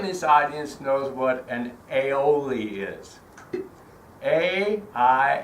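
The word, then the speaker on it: aioli: um who in this audience knows what an AOL is a i i l o l i aoli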